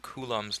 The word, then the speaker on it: Coulomb: going to learn what kum's law is that's how you pronounce that word kum's law and you're going to